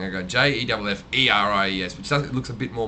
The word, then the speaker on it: Jefferies: At least it's pronounced exactly the same, and everything's the same. But now instead of JEFFRIES, which is the original spelling, I go JEFFERIES, which looks a bit more mongy than the other way.